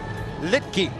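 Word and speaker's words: Luetge: Litke is how it's pronounced.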